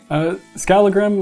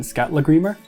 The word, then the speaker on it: Skalla-Grímr: Skallagrim, or if you give it the Icelandic pronunciation, Skalla-Grímr. Double L's is a TL sound.